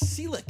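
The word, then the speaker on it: Celek: It's Selleck, how you pronounce it, right? Brent Selleck. Selleck. It is Selleck. Brent Like Selleck, Tom yeah. Selleck. Spelled differently.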